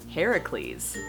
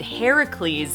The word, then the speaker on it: Heracles: or should I say Heracles. That's right. Hercules is actually the Roman pronunciation of this god's name. And Heracles is the Greek pronunciation of his name.